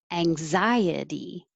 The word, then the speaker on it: anxiety: Anxiety. 1, 2, 3, 4. Anxiety. Remember to stretch the vowel in the stressed syllable much longer. Anxiety.